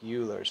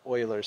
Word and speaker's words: Euler's: How do we pronounce Euler's formula? The answer is Euler's formula. So, you know, the typical mislead is it looks a lot like Euler's formula, right?